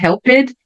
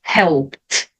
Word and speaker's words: helped: I helped him, não vou pronunciar o e, então não é helped, e sim helped.